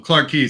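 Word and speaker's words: Clarke Quay: are Chinatown and then Clark Kwai is that how you say it okay I had a feeling so um Clark key seems like the more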